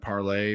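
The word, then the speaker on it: Parler: to twitter called uh parlor uh with their copy they were pronouncing it parlay but it was like spell like parlor or something i'm not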